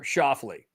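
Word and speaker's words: Schauffele: year's British Open the cor I can correctly pronounce um by it's Xander shafley very good I've struggled personally with that name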